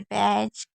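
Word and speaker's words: batch: तो कभी भी टी के साथ अगर सी एच है यानी कि ये तीनों अगर साथ में है तो आपको टी को नहीं पढ़ना है। जैसे बैच कैच यहां पर देखिए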